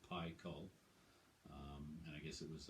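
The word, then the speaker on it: Pikul: ep in 05 called pi cull it's p i k u l but it's actually pronounced pi call and i guess it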